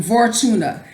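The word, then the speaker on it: Vortumna: as she was called this one's pronounced the vortuna v-o-r-t-u-m-n-a who turns the year she who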